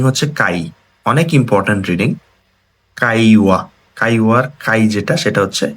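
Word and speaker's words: 会話: কাইওয়া, কাইওয়ার কাই যেটা সেটা হচ্ছে এই কাঞ্জিটা।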